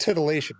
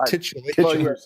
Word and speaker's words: titillation: And so to get back to her circuit of titillation, you think she's I'm pronouncing that wrong, aren't I? It's just titillation, not titulation. Titulation is titular means something else.